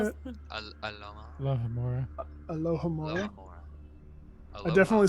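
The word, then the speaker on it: Alohomora: are you is that how you say it alohamora alohamora I definitely said Aloma hor God go two British kill me me perhaps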